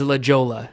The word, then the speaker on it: La Jolla: it's spelled La Jolla or something. La, right? La Jolla is La Jolla. La Jolla.